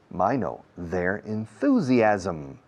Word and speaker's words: enthusiasm: They'll lose their enthusiasm. Los ismos o asmos en este caso. Enthusiasm. A-S-M. Se pronuncia A-S-A-M. Asm. Como los ismos.